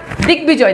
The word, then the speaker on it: দিগ্বিজয়: গয়ের সঙ্গে বফালা যুক্ত হলে ওই ঘ বয়ের উচ্চারণ অবিকৃত থাকে। অর্থাৎ দিগ্বিজয়, দেখেন এটা সন্ধি সাধিত শব্দ, দেখেন বফালার উচ্চারণ রয়েছে।